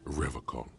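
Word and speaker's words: Revachol: He pronounces Revaccom with a hard K.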